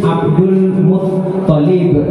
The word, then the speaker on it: Abdul Muttalib: Sepakat kita semua nama ayah Rasulullah adalah Abdullah bin Abdul Muttalib. Tasdidnya di ta ya, jangan bilang.